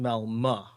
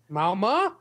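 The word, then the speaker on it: Malmö: it is Malmo Sweden I think it's pronounced malma malma according to Wikipedia or malma like that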